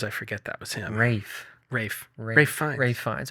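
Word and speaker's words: Ralph Fiennes: forget that was him Rafe Rafe ra fines okay yeah I think I said it wrong it's okay uh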